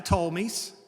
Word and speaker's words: Ptolemies: You have the Ptolemies. The P is silent.